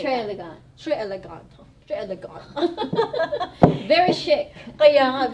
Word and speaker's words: très élégant: Kung makikita mo ang spelling dyan sa screen nyo, it's Tres Elegant, but it's actually inspired ng... It's a French word. It's a French word. Très élégant. How do you say très élégant?